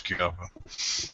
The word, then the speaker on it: Chiappa: Assuming that's how you pronounce Chiappa.